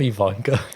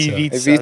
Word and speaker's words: Ivica: Did you call him Ivanka? I don't know how to say his name. It's Ivica? Ivica. Ivica Zubac.